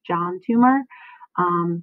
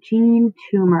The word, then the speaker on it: Toomer: Toomer I have it I have heard it pronounced this john tumor but i will subsequently be calling him gene so gene tumor of the Harlem Renaissance